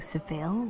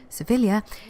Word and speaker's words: Sevilla: beautiful and Elysian Kaptur Seville or as the Spanish pronounce it they should know Sevilla is famous for many